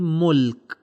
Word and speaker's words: مُلْك: دیکھیں یہاں پر جو دوسرا ورڈ ہے وہ ساکن ہے، یعنی ملک. ملک وہاں پہ سکون موجود ہے.